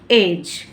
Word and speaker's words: edge: EDGE, डी के just बाद जी है, तो डी के बाद जी है, तो रूल कहता है कि डी को क्या कर देंगे, साइलेंट, तो हम इसे क्या पढ़ेंगे, एज, क्या पढ़ेंगे, एज।